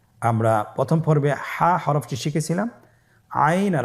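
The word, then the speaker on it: عين: আইন হরফটি উচ্চারণের সময় অবশ্যই তিন আলিফ টেনে পড়তে হবে। এখন আইন হরফটি বারিক হরফ। পাতলা করে পড়তে হবে।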